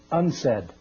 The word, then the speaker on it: UNCED: It is pronounced unsaid and perhaps indicating the secret agenda of this meeting.